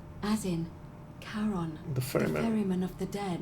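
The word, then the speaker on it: Charon: it's just as you described it only your pronunciation is a little off the name you heard wasn't karen it was c h a carol yes n as in caron the foreign of the dead yes exactly who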